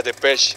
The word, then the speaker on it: Depeche: A Dave le cagaba que la gente pronunciara mal el nombre de la banda e insistía que era de Pesh con la e silenciosa.